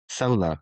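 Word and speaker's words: Soler: Solar, like Rich solar Solar, panel, sorry. but spelled with an E, not an A.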